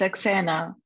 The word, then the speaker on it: Saxena: You'll help me with it's, that It's Saxena, but is fine.